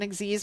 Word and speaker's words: Xyz: though, now is that Xyz monsters exist. I understand that's the proper way to pronounce that. I like to call them XYZ or Gz monsters, depending on how I'm feeling about them, because I think it's funny.